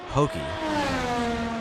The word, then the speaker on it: Hokei: And I believe we pronounce that Hokei just like Pokey with an H.